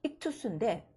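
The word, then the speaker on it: ἰχθύς: 익투스인데 익투스라고 읽는데 그 익투스가 뭐야?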